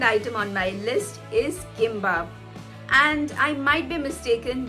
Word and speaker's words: gimbap: on my list is gimbap and i might be mistaken but i have seen in quite a few instances that g is pronounced as k in korean this is not an